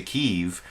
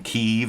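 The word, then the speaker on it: Kyiv: up there next to keeve oh and thank you tom trask for giving me the uh super chat contribution for correctly pronouncing keeve as one word i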